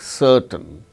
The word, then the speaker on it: certain: it is not pronounced, like certain, CERTAIN, R is followed by T, a consonant sound T. So, in such case r is not pronounced, certain.